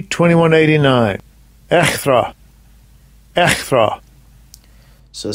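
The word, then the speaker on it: ἔχθρα: I'll get the pronunciation. Strong's G, 2189. Echthra.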